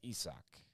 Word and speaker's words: Isaac: Or it's Isak, I believe. Not Isaac, it's Isak.